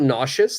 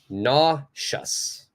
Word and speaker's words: nauseous: puke puke is great uh one thing about nauseous the spelling is quite interesting it's a it's a weird spelling but the pronunciation for this is just going to be like this nauseous nauseous all right all right we got a